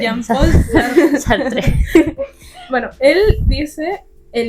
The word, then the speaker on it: Jean-Paul Sartre: Ahí me ayudan con la pronunciación, la verdad. Fallo en ese aspecto. Google Traductor. Jean-Paul Sartre. Sí, es nuestro dialecto. Jean-Paul Sastre. Jean-Paul Sartre.